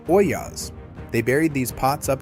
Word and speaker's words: ollas: They called them ollas. That's o l l a s, and it's pronounced oyas.